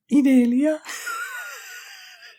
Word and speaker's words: Inelia: Inelia.